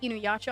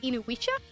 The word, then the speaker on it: Inuyasha: So I remember when I was little, they always had Inuyasha on there. My mom lovingly calls it Inuisha because she can't pronounce it.